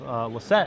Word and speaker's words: Lassett: Also, I found out that his name, we found out earlier today that his last name is actually pronounced Lassett and not Lassett.